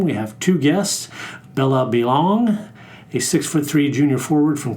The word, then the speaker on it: Belon: My name is Bella Balon.